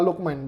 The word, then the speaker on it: Lookman: Apa sih bacanya? Ademola Lookman, betul.